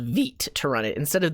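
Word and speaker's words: Vite: let's see what we got so we used veet to generate this app it's going to look similar to a cli generated app but it uses this thing called veet to run it instead of the view cli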